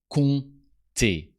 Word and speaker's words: compter: Compter. But why a silent P in the middle of compter?